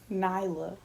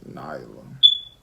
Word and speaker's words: Nyla: like Nyla. Nyla. Like the Nile River, Nyla. So we just told them